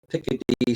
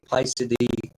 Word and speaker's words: Picidae: So the family Piccidae. Some people say Picidae. These Latin terms, they have different pronunciations.